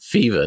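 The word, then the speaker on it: FEVA: what that means well we pronounce it fever not seven okay Fe VA is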